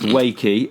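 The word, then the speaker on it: Wakē: Anyway, it's pronounced wakey.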